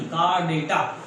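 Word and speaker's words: Chordata: Phylum कार्डेटा कार्डेटा नहीं, कार्डेटा। Phylum कार्डेटा, spelling mistake होगा पक्का, चेक कर लीजिएगा, DETA नहीं DETA।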